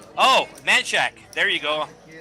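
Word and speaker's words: Manchaca: So, so it's actually it's actually pronounced manaka, but it was angalized and it is uh known as mancheck in the Austin area.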